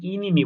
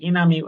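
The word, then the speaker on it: enemy: বন্ধুরা এখানে খেয়াল করি এখানে আমরা অনেকে ভুল করি ইনিমি বলি বা এনামি এই উচ্চারণটা হবে এনামি এটুকু যথেষ্ট। এখানে ইংরেজি ভাষায় কিন্তু ই এর মানে একারের উচ্চারণ নাই। সবসময় এর উচ্চারণ আছে। মানে জ ফালার মতো কিছুটা।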